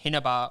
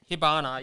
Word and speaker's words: Hibana: in this series like you have uh uh hinaba or how is it pronounced yeah hibana yeah she from company five like she she